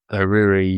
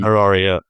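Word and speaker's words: Harari: I mean there's a phrase you've probably read Sapiians by I I probably can't pronounce his name right, but Yoal Heruri Heraria.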